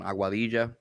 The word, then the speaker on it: Aguadilla: was born and raised in puerto rico in aguadilla there you go that's actually a really good pronunciation um and uh i went to school